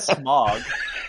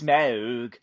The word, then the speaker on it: Smaug: Is not Smog. I don't know how you would assume the name of my dragon is Smog. It's Smaug.